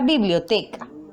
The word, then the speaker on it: biblioteca: Por ejemplo, tenemos la palabra biblioteca. Vamos a ver dónde se encuentra la sílaba tónica. Bi-blio-te-ca. Realizamos la mayor fuerza de voz en la sílaba T.